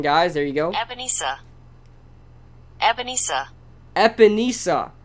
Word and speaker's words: Ebenezer: But, yes, that is the correct pronunciation, guys. There you go. Ebenezer.